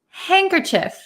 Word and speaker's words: handkerchief: Chief hand cief um in American English we pronounce it handkerchief handkerchief some people also pronounce it handkerchief but